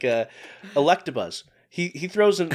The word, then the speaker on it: Electabuzz: to change like uh electabuzz he he throws he throws an r in there electra buzz is how he pronounced and he he refuses to say it any other way yeah when he's